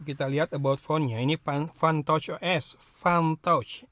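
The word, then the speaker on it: Funtouch: lihat about phone-nya ini fun touch OS fun touch Ingat jangan pakai ee eh dialek Sunda bacanya Ya F jadi P found tchos 15 mediatch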